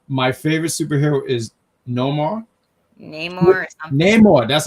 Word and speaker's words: Namor: Namor, that's how you say it.